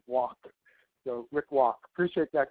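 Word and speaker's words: Wak: Uh it's spelled W A K, but it's pronounced walk.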